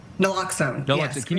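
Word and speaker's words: naloxone: Leah, uh you you're recommending that families have and forgive me if I'm mispronounc mispronouncing this. Is it uh nlloxxone? Nlloxxone which is commonly known as narcan.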